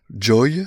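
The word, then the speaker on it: Joey: Donc, c'est un petit appareil qui s'appelle Joy, ça s'écrit J-O-E-Y, et c'est vendu exclusivement par la société Iri Jardin.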